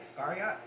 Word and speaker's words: Iscariot: unlucky because one of those 13 judas iscariot iscariot is how you say his last name yeah